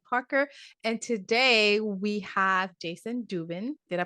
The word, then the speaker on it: Jayson Dubin: your host Ellen Parker and today we have Jason Dubin did I pronounce it right you did correct perfect perfect